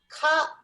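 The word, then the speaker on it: 飼う: To have a pet, we pronounce cow. Cow. はい、言ってください。cow. Cow. Like an English animal. Cow.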